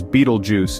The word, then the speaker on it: Betelgeuse: Celestial Wonder Beetle juu pronounced as Beetle Juice is a red super